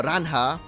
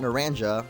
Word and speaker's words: Naranja: So if you have enjoyed this first episode of Pokemon Naranja, I'm actually saying it right this time, not Naranja, like I used to say when I was a wee little boy.